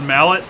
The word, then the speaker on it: Mallet: He has been preparing to open the gate on Malay Island. Pronounced mallet.